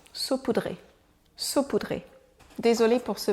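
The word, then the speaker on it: saupoudré: poudre sur un support voyons voir si j'arrive à trouver une prononciation saoudré voilà ça c'est la bonne prononciation sa poudré saut poudré désolé pour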